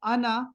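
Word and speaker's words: أنا: होता है मैं आय ये आना का जो आखिरी अलिफ है ना ये नहीं है इसमें साइलेंट है ये नहीं पढ़ा जाता आप दो और नॉन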